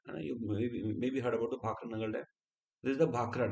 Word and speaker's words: Bhakra Nangal: Together we pronounce it as the Bhakra Nangal Dam.